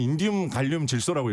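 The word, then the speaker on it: InGaN: in g 이렇게 되거든요 이게 잘못하면 인간이라고 읽을 수 있습니다 인간이라고 읽으시면 안 돼요 이거인인 질라는 뜻이기 때문에 그냥 차라리 iag이라고 읽으셔도 되고요 아니면 인디 갈륨 질라고 읽으시면 되는데 이거 굳이 인간 뭐 이런 식으로 읽으실 필요 없다 예 그렇게 좀 설명을 드리도록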